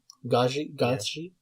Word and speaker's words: Gaethje: I mean, probably, maybe Oliveira, or I mean, it's either him or I don't know how to pronounce his name. Gaethje.